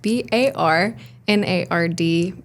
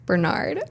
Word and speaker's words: Barnard: And you pronounce it? Bernard. And how do your parents pronounce it? Bernard. And how did you pronounce it when we were getting ready? Barnard. Yeah. Yeah, that's probably the most correct pronunciation from like a uh like a phonetic pronunciation.